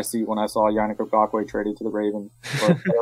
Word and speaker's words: Ngakoue: Yannick Ngakoue. Ngakoue.